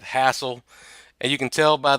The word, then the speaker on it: Hassl: from the south so I know exactly how you pronounce that hassle and you can tell